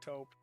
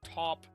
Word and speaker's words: taupe: It's a time to discuss top being pronounced taupe. I know that as well. I was told that like months after starting the channel, but I always called it top and every discussion that